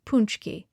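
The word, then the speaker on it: pączki: maybe buy a punchki uncle says to pronounce it punchki a jelly-filled donut the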